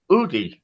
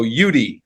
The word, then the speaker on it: Uitti: a young man a Seattle based writer Jake udy am I saying it right Jake um that's I think that's how the Finnish would pronounce it but I when I'm in America I go yudi but okay however however you want to say